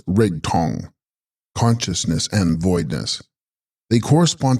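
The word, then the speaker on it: rig-stong: Rig Stong, pronounced Rig Tong, consciousness and voidness.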